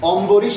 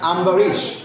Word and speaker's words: Ambarish: আভেন আওভেন right okay আমার নাম অম্বরিশ না আম্বারিশ এভাবে উচ্চারণ করতে হবে রাইট তো এইখানে যেটা